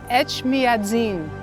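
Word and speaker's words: Etchmiadzin: say the name of the cathedral H madin ET madzin yes yes okay I heard it was almost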